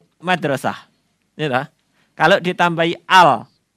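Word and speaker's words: مدرسة: kita tidak memiliki kosakata kita akan mengatakan midrisih saya enggak tahu Benar apa salah mudrusuh atau Madrasah nah ini agak benar Madrasah artinya sekolahan tetapi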